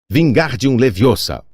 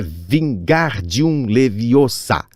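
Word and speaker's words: Wingardium Leviosa: mesa ao lado não estava tendo muita sorte vingar de um leviosa ordenou sacudindo os braços compridos como parte de Moinho você está dizendo feitiço errado Harry viu Hermione corrida aborrecida é vingar de um leviosa hogar bem pronunciado e longo diz você então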